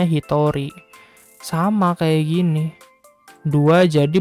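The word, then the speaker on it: 一人: Hito Hai artinya berubah Bukan hitotsu Ya bukan stats tapi jadi Hitori padahal ini kanji Hito atau kanji Jin ya ini kanji Hito kanji jin tapi kalau dikasih angka 1 dibacanya Hitori sama kayak gini dua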